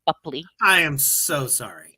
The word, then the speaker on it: Boepple: It was Johnny Depp, you know, razzing B Bupley, before my scene, and that's how you pronounce it, by the way, Bupley.